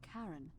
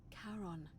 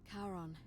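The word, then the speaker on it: Charon: is a little off the name you heard wasn't Karen it was c h a r o n as in Caron the ferryman of the Dead karon who in exchange for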